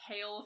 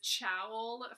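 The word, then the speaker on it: Chaol: A character name that you have been pronouncing wrong, and that would have to be Kale from Throne of Glass, because I totally pronounced it as Chowl for the whole time I was reading the first book.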